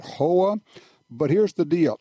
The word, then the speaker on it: Howa: I heard a lot of people say Howa. I think they pronounce it Hoa, but here's the deal: